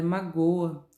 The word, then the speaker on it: magoa: Letra B, eu tenho a palavra destacada é magoa. A sílaba tônica é o go.